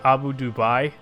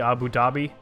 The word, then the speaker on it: Abu Dhabi: The biggest one was probably Abu Dubai, which is actually Abu Dhabi.